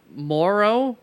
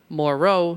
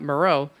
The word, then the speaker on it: Moreau: for Tay Sam Hill now on to Foster Morrow I am told by the CBS guys is how it is pronounced or at least one of the CBS